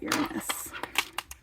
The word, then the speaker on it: Uranus: I'm not going to pronounce it the other way. If you want to pronounce it in your head that way, that's fine. You can have yourself a little giggle. We're going to call it Uranus.